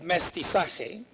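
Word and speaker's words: mestizaje: the multivalent category of mesti sake and that's how you pronounce it mestiza for the purpose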